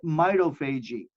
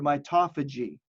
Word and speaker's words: mitophagy: as autophagy or autophagy, however you'd like to pronounce it, and mitophagy or mitophagy.